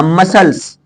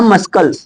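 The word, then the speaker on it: muscles: य मसल्स इसको क्या पहले मैं खुद बोलता था मस्कल ऐसे बोलता था है ना भाई शुरुआत में कुछ तो पता ही नहीं था बाद में पता चला इसे मसल्स बोला जाएगा रूल नहीं सीखकर सुनकर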